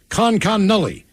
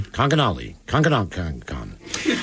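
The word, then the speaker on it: Conconully: Miles, you mispronounced it. It's Connolly. Conconnully? Come on, dummy. Conconnully.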